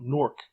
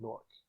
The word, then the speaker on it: NORC: So now NORC, NORC at the University of Chicago. NORC is not an acronym. It should be pronounced N-O-R-C, not Nork.